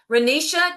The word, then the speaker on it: Reisha: Reisha, did I say it right? Yes, ma'am.